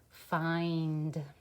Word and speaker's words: find: you remember this word it's a rule breaker the i n d says eind find it rhymes with mind we have to put find in our mind f i and d